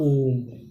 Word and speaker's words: ओम: यानी समय लगता है जैसे हमने कहा ओम ओम कैसे लिखते ओ ये वाला ओ म अब यहां पर देखिए इसका जो उच्चारण होता है यह काफी लंबे समय तक होता है जैसे दीर्घ से काफी